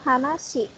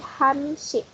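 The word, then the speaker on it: 한시: Jadi ini dibacanya bukan hanashi, tapi hanshi.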